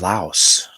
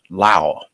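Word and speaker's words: Laos: so this is in in a country called la la they pronounce it La they don't pronounce the yes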